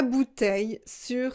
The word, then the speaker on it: bouteilles: aussi poser directement la bouteille sur la table une bouteille des bouteilles on ne prononce pas le elle en prenant si une